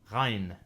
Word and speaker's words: ghain: Ghain. Some say that this is similar to the French R sound.